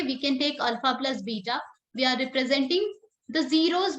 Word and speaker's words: beta: is called beta okay we are writing it bet ta but we pronounce it beta okay this these alphabet